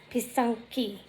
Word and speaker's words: Pysanky: So Pysanka, or Pysank, it's actually Pysanka and Pysanky, like that, I think. It's how you pronounce it.